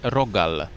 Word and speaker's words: rogal: Singular form is rogal. Plural would be rogale. And in Poznan we have very special type of rogal, which is sometimes translated into English as a croissant. Our rogal, named Świętomarciński or Saint